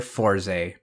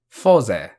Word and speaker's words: Fourze: forty four zero fose i've heard several pronunciations including four z fours and infamously forza but let me explain it briefly yes the name is based on the number 40 with each digit said separately four and zero but if